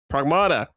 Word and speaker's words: Pragmata: I think it's actually pronounced pragmata. Is it pragmata? Pragmata. But but don't don't worry because I I I say pragmata like all the time too. It's near near automata, right?